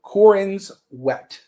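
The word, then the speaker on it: Corenswet: Cororin sweat. Cororin's wet. Yes. Yeah. It's like wet.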